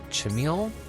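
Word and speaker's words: Chimil: Chamil, that's how you pronounce it, and a Journey of Eternity.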